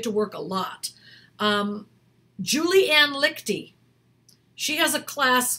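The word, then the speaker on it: Liechty: Julianne Lichty, she has a class called Actors in Action, I think it's called.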